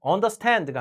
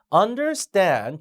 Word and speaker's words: understand: 자, understand 동사도 you will understand가 아니라 understand 뒤에 강세죠.